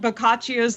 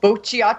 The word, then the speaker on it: Boccaccio: of in grad school that's how you say it boccaccio cuz I was trying to read I was turned I was trying to read it was like Bochy I was just so